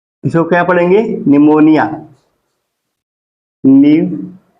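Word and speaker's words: pneumonia: आए पी एन ई यू इसको क्या पढ़ेंगे निमोनिया न्य मो निया निमोनिया निमोनिया क्या होती है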